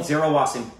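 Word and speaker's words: Zaira Wasim: Zira Wassing, is that right? Yeah, we know her from Dongle. Zira Wassing.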